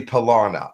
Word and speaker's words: Palana: It's actually Palana. I'm sorry, not Panera. Palana. There are different pronunciations within the alien cultures, but Palana would be the human pronunciation.